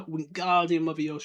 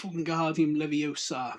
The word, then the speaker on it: Wingardium Leviosa: Wingardium Leviosa, he shouted, waving his long arm like a windmill. You're saying it wrong. It's Wingardium Leviosa. Make the guard nice and long.